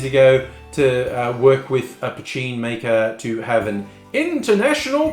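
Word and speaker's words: Poitín: when you see it spelled, it looks like Poteen, but it's pronounced Poteen.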